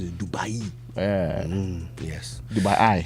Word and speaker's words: Dubai: doors to international trade opportunities in Turkey and Dubai.